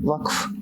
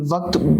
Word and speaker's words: Waqf: Waqf is I think Q is silent in there.